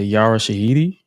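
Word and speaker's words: Yara Shahidi: Uh one of the one of the attendees for the event was uh Yara Shahiti.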